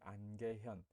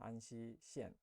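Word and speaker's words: 安溪县: 복건성은 복건성 내에서도 좀 약간 남쪽에 있는 이 안개현, 안시라고 중국 발음은 안시시엔, 안시인데 안개 철관음이죠.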